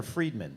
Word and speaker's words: Friedman: It's Friedman or Friedman? It's Friedman, yeah. Okay, I want to make sure it was... Yeah, it's spelt Frid as well when you actually look at it. But I always thought it was Friedman, yeah.